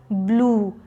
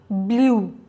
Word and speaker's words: blue: A bonus tip, blue is pronounced as blue, not blue. People often tend to say this as blue, but the end sound is oo, not you.